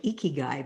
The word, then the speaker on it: ikigai: do you spell that it sounds like icky guy but i'm sure it's not the same well the guy the guy made a really funny he said icky guy he said a guy in a blue he said a fat guy in a green speedo would be an icky guy it's spelled i-k-i-g-a-i icky guy okay definitely have to